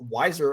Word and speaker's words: Wiser: are left we have Daniel wiser I'm informed is the actual pronunciation uh versus Conor Lane